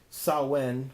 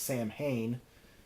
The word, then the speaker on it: Samhain: more but if not this is the saw when or as I pronounced it both ways numerous times in this episode there also could be pronounced Samhain this is their box